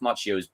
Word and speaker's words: Macchio: 2 C's is pronounced Chi. Sorry, I was speeding through it. Ralph Macchio.